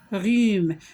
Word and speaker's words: rhume: Ici, on n'a pas prononcé une lettre. Quelle est la lettre qu'on n'a pas prononcée? C'est la lettre H. Quel rhume.